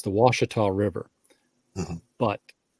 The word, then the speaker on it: Ouachita: Arkansas and you know the French Pioneers um that became the hillbillies the first ones knew how to speak French and the second ones knew how to pronounce it so right you you have you have the Ouachita River up in Northwest Arkansas which you know is the o-u-c-h-i-t-a Ouachita and as you get